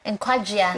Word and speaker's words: Enquadria: Please pronounce it for me. Enquadria. Enquadria.